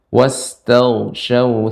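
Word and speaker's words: واستغشوا: Ya, sampai di situ, dan sin-nya lebih banyakkan lagi, diperbanyak desisnya atau hamsnya, wastaghshaw thiyabahum. Taknya Pak Ustaz, tanya. Sin, wastaghshaw thiyabahum.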